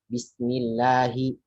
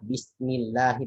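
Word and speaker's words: بسم الله: Qala Allahu Abdullahi fadlullahi, kecuali kalau sebelumnya kasrah. Contohnya apa? Bismillahi. Nah, bismillahi bukan bismillah, ya. Atau misalnya alhamdulillahi bukan alhamdulillah tapi alhamdulillah. Nah, seperti itu kira-kira.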